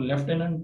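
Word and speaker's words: lieutenant: इसी तरह से ये वर्ड है, इसको लेफ्टिनेंट पढ़ा जाता है, यानी आई यू जो है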